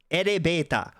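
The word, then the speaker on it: エレベーター: So, elebeta. Oh, here we go. We'll do this. Let's see. Elebeta. So, elebeta, that's elevator. That is the same pronunciation as the English elevator. Erebeta.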